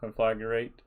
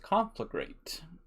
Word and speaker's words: Conflagrate: Obviously with this team, freaking no surprise, you know, Conflagrate. Oh, why did I call it that? I never call it that. That's how Hiru always pronounces it. It's pronounced Conflagrate.